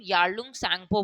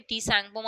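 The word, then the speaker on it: Yarlung Tsangpo: इसको हम यारलंग सेंगपो बोलते हैं। ठीक है? टी सेंगपो मत बोल देना क्योंकि टी इसमें साइलेंट रहता है।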